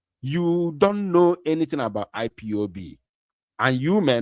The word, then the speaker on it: IPOB: So IPOP, not we don't usually call it like that. We call it IPOB indigenous people of Bafra. Even not P.